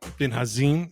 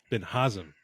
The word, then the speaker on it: Binhazim: good buddy bin bin hazim is that how you pronounce it no but nice try I like it all right how do you pronounce your last name B sorry Ben haam okay sorry no you're